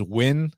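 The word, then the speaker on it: Nguyen: it can be spelled neguyen but it actually pronounces win so let me know if van is actually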